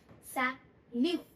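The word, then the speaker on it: salut: सैल्यूट।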